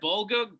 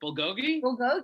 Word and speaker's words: bulgogi: amazing yeah dude all right but isn't it bulgog uh what is it bulgogi right yeah yeah yeah yeah the way you're